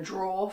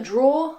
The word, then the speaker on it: drawer: This is a drawer, like I said. Be careful, because in British English we don't pronounce the ER at the end. We just say draw.